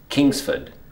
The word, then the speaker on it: Kingsford: The correct pronunciation of this is Kingsford. So you can hear that this is the strong one. So it's Kingsford.